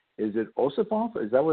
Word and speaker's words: Ossoff: Is it Ossoff? Is that how you pronounce it? It's Ossoff.